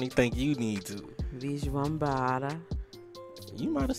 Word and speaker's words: Vishwambhara: At the end, they was like, Vishwambhara.